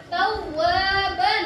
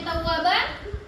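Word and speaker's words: تَوَّابًا: Tawwaban. Kita lihat lagi di kalimatnya. Di sini ada dengan kata pertama dia mendapatkan dengan kata tawwaban. Apa kita membacanya tawwaban? Tidak. Kita baca dengan apa? Tawwaba.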